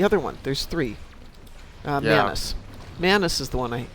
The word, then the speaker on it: Manus: It's just pronounced, or spelled M-A-N-U-S, Manus, I think.